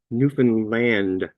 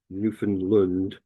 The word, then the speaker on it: Newfoundland: Right now, where I come from, which is Newfoundland, it's pronounced Newfanland, by the way, not Newfoundland.